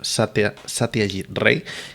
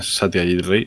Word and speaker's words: Satyajit Ray: he tenido que tomar nota de cómo se pronuncia. Creemos que es así, Satyajit Ray.